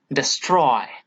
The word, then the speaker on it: destroy: Here I have marked the portion where the stress is gone. Okay, destroy, destroy is given importance here, not D.